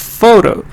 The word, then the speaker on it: photo: the fair sound for example in the word photo GH can also be the first sound for